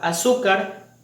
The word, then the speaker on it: azúcar: Contrario a la palabra azúcar y fósil, que de igual forma tienen la mayor fuerza de voz en la penúltima sílaba, pero estas sí terminan en una letra que nos permite la regla tildar, que es cualquiera diferente a N, a S o a vocal.